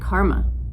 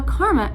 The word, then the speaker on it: Kerma: desert next up let's take a look at karma now karma as you can see is spelled differently than it is pronounced now karma